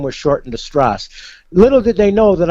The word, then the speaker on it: Stras: Last name is spelled Stras, not Strauss, because I'm not German. It's Stras.